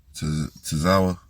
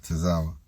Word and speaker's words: Tozawa: And then we had Dominic versus how you pronounce his name? Tozawa. Yeah, Tozawa.